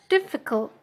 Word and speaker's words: difficult: Misalnya didengarkannya difficult gitu ya. Jadi stresnya atau penekanannya di syllable keberapa? Syllable itu suku kata. Ada di diff, v, apa cult gitu. div itu berarti first syllable.